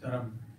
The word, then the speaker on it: Dharma: Actually, the Sanskrit pronunciation is Dharam. There's no A at all, right?